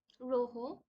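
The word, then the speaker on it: rojo: আসুল next we have রোহ স্প্যানিশে যে অ্যালফাবেটটা আছে এটার উচ্চারণ অনেকটা হ এর মত হয় সো ইটস রোহ অর রোহা সো দা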